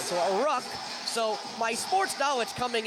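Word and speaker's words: ruck: It's a rook. R U C K and it's a short U sound. So, a rook.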